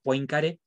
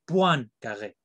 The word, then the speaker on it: Poincaré: muy importante que es en español se escribiría o lo leíamos poincaré pero se pronuncia one carlet y un ejemplo más